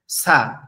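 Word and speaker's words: ث: তারপর আপনারা আবার বলবেন অক্ষরটা আমাদের জিউবার আগা অর্থাৎ জিবার আগা সামনের উপরে দুই দাতের আগাম দুই দাতের আগার সঙ্গে লাগবে লেগে উচ্চারণ হবেছা সা ছা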